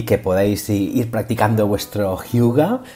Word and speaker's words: Hygge: Uno de ellos es Hyuga, recordar, se escribe Hygge, La receta de la felicidad, cómo disfrutar más con lo que ya tenemos, de Marie Turell Sodenberg.